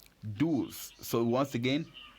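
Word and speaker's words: douze: o u gives us do's Do's so once again we don't pronounce the e at the end so once again how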